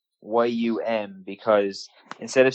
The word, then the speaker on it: Liam: like liam he's like no it's yum as in yummy yeah like but people